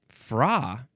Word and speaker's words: fra: Now we have fra.